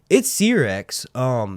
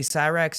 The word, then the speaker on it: Syrax: It's Syrax. There are some people that say Syrax, and I get that because like S-Y, Sy, right?